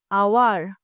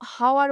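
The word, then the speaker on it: hour: দেখো তাহলে অনুচ্চারিত হচ্ছে এইচ, ভালো করে লক্ষ্য করবে, অনুচ্চারিত এইচ, অ্যান, আওয়ার, হুম, অ্যান আওয়ার। আমরা কিন্তু কেউ হাওয়ার বলি না, তাই তো?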